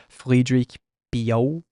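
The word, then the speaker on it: Frédéric Pillot: I'm gonna try to pronounce it in the proper way. Friedrich Pio, who's a French illustrator. It's spelled like Frederick Pilot for us Westerners, I suppose.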